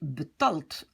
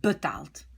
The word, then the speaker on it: betaald: c'est d, mais maintenant, je vais prononcer betalt. Ah, pas bien. Betalen était une syllabe ouverte à l'infinitif, mais ici, je suis obligée de rajouter un a, sinon, je change le son a. Il doit rester long, d'accord?